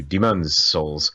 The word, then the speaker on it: Demon's Souls: You got to put the emphasis in a different place on demon. That's what you got to do. Demon's Souls.